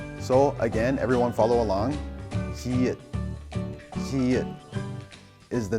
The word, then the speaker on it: 지읒: Now, 지읒 pronounced j together with O. 조.